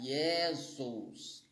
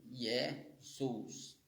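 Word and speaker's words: Ἰησοῦς: é um conto consonantal No grego tem um conto consonantal entre o omcron e o upsilon e muitas vezes ele vai ser vai ser eh pronunciado com com o som de u e aqui é um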